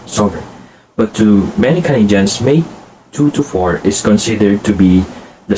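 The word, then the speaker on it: May 2-4: It is pronounced as May 2 to 4, also known as the Victoria Day.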